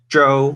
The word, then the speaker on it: Zou: you know um yes but the correct Chinese pronunciation is Jo which I think though